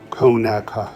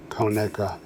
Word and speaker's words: Conecuh: Conecuh sausage. And right away, say it with me, Conecuh, because mispronouncing it is the fastest way to out yourself as not being from Alabama.